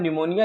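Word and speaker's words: pneumonia: चलिए लिखा है मेरे भाई साहब निमोनिया लिखा है, ये पी आपने कहीं ये पी है, ये पी साइलेंट हो जाता है।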